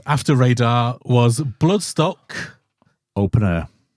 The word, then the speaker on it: Open Air: radar was blood stock open air open air is it right I've been saying it wrong You' been saying bloodstock open hour you just a little